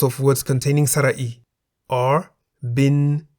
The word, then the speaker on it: บิน: Examples of words containing Sara-E are bin in the middle tone, meaning to fly, and hin in the rising tone, meaning stone or rock.